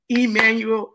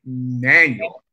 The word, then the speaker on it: Manuel: It is not Emmanuel, it is Manuel.